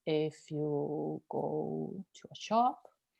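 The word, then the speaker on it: hay: And then we have this other word, which is quite handy too, this I. Okay, this is how you pronounce it, I. Remember the H is silent.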